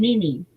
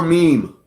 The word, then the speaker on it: meme: What kind of animal is surrounded by flames in the This Is Fine, Mimi? I may not be saying What's that. the word before meme? It's M-E-M-E. This is fine. It's not Mimi.